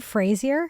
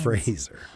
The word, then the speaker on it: Fraser: Steve Bush, and are we saying Frasier? Power trio. Brendan. Is it Frasier? I don't know. I mean, I think salad and scramble. I think it's Brendan Frasier. Let's not Let's not Ray Fi this. It's Brendan Fraser.